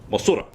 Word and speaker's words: Mothra: Well, the movie was Mothra, and I don't know if, yeah, Mothra. I've been instructed that's how it's supposed to be pronounced.